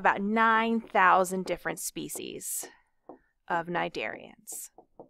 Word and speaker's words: Cnidaria: This lecture is going to be all about our friends, the cnidarians. So this word cnidaria, which yes, starts with a silent C, cnidaria means stinging thread.